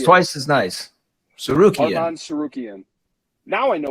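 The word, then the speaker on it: Tsarukyan: Charles Oliveira versus Arman Sarkian. Almost. Arman Sarukian. Sarukian. I was just say it twice, and it's twice as nice. Sarukian.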